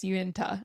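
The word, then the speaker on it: Uinta: UI N TA. That's the national forest that you go through is Yuenta. Uenta. It's a hard one to pronounce, but that's the forest that you actually go to.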